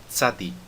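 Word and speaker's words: צדי: Agora, o som do tzadi é um som que nós não temos no português. É o som que existe, por exemplo, na língua japonesa para a palavra tsunami. Eles não dizem tsunami, né? Eles dizem tsunami. É como se fosse o T e o S junto, e faz um som de S ainda mais forte do que o S, por exemplo, na palavra assado.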